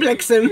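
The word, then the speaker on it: Blixem: It's actually Dutch, but it's spelled Blixum. Dunder and Blixum. It's B-L-I-X-E-M. So it's Blixum.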